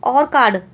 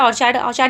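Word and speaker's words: orchard: ठीक है, देखो, there is एन ऑर्कार्ड behind. ऑर्चार्ड पढ़ो, ऑर्कार्ड पढ़ो, जो भी है आप स्पेलिंग अपने तरीके से लर्न कर लो, इजी है।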